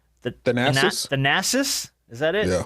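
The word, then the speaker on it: Thanasis: The Nassis. Is that it? Yeah, I almost called him Thanos.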